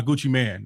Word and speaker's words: Gucci Mane: So, I pulled up a story on USA Today and it's spelled Gucci like Gucci, but it's M, but he goes by Gucci Man.